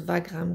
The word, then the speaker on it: Wagram: puis il nous disent que Wagram ça se prononce vagram comme en allemand VAG RAM fait qu'